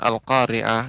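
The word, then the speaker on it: القارعة: ya Mak Mal khoriah kemudian pengucapan al-qariah yang Mad huruf Kaf ini ke ngan artinya eh mengucapkan cukup ditekan Bapak al-qariah ya al-qariah oriah sedangkan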